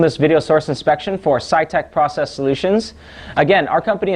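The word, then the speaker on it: SITEK: and I filmed this video source inspection for SciTech Process Solutions. Again, our company is spelled S-I-T-E-K, Process Solutions, and you can find us on the web by searching for SciTech.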